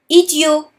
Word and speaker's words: idiot: Idiot. As you can hear it, the T at the end of idiot is silent because we're speaking about a boy.